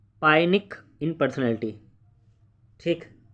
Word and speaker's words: pyknic: अगला क्वेश्चन आपका, who classify the पाइनिक in personality. ठीक, इसमें पी जो है वो थोड़ा सा साइलेंट भी होता है, नाटे भी करके, नाइटिक